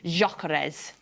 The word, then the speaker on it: Gyökeres: No, I've pronounced that wrong now that Ali's not in my ear. Gyökeres.